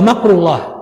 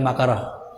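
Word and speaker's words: مكر الله: Rafa'a, jadi wa makrullah, itu bacanya jadi bukan makarah.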